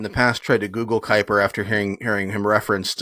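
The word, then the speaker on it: Kuyper: And real quick, as somebody who has has in the past tried to Google Kyper after hearing hearing him referenced on um audio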